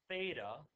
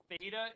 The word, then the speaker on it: Theta: So this angle that we will call theta is 1 radian. Theta is the Greek letter for TH.